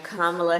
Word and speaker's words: Kamala: And if we apply this strategy to the Vice President's name, we get what has now become the majority pronunciation in the US, and the one she herself uses. I am Kamala Harris.